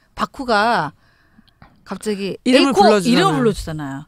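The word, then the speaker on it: 麦: 바쿠. 보리. 보리 맥자를 자기가 마음대로 읽는 거잖아, 지금. 맥을 한자로는 일본어로는 바꾸라고 읽어요. 바꾸라고 무기라도 읽지만 한자 도금으로 할 때는 바꾸.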